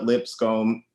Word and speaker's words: Lipscombe: So at the Lipscombe, and you can Google it to spell it properly, but it's lips on your face, a comey hair with an E on the end.